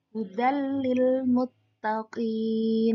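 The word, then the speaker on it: هُدًى لِّلْمُتَّقِينَ: Di sini ada fathah tanwin bertemu lam, maka menjadi hudal lil muttaqin. Jangan terlalu lama dengungnya, hudal, jangan begitu. Tapi hudal lil muttaqin.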